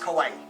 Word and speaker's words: kawaii: It's pronounced Kawaii.